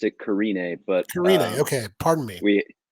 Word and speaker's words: Carinae: our guest today calvin parent of the band karen am i saying karen a right uh well we've always pronounced it carine but okay pardon me we that's quite all